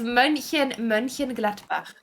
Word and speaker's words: Mönchengladbach: No, it's Mönchengladbach.